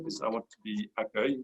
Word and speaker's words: accueil: I want to be accueil, which is it may not sound like the way it's spelled, but I promise you that's the way it sounds. And droid here should have droid with an E at the end.